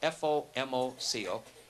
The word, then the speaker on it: FOMOCO: Ford Motor Company has a brand name for their parts division, spelled F-O-M-O-C-O, and it's pronounced phonetically. It's like Fomoco.